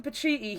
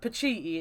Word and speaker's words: Pacitti: But it's like that whole thing, like Adam Pacitti, he always said that his family always pronounced his surname Pacitti until he met an Italian guy who was like, that's pronounced Pacitti, it's Italian, it's Pacitti.